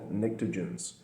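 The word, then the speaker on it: pnictogens: 15 and these are called nicens spelled with a p so nicens exhibit a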